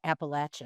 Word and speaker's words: Appalachian: You you mentioned that we um we established that the proper way to say that word is Appalachin.